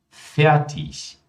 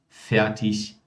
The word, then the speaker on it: fertig: IG no final de palavras, por mais que nós tenhamos o G ali no final, mas IG é pronunciado como ich. Então, nesse caso, nós temos Ludwig, ewig, fertig, richtig.